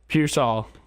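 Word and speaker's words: Pearsall: dad texted me how to say it um piol piol is U piol for the um 49ers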